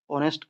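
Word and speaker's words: honest: एज का sound मत करना इस टाइम पे आवर बोलते टाइम, ऑनेस्ट बोले तभी भी ओ का साउंड करना है, यानी कि वावल।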